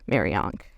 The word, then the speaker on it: Mariank: So, she mashed up the Egyptian Ankh. It's like the popular pop culture Egyptian symbol with it's like a cross with a loop at the top, quite popular. It's spelled Ankh. She lopped the H off and she mashed it up with the name Mariana. So Mariana Ankh, Mariank.